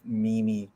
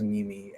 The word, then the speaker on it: meme: I love how memey everyone is here, and I've been around for so long. I literally once pronounced it as Mimi and not meme, which we've all been there.